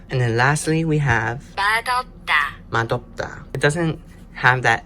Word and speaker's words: 맛없다: the second part, so it's one of those special rules where it sounds a little bit different than what it looks like, you know? You know? So instead of the S sound at the end of this one, you would use the D sound instead.